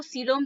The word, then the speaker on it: coelom: इसको हम हिंदी में क्या प्रोनाउंस करेंगे? सीलोम।